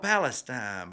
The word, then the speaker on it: Palestine: and he goes well it's spelled palestine but around here we like to say palestine and i said a